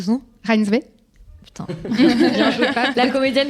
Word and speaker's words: Reinsve: Comment t'as prononcé son nom? Reinsve.